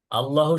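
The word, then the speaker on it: الله: ল বলতে হবে। ল, LAW, English উচ্চারণ যে আছে ল আইন, সেরকম ল হবে ল।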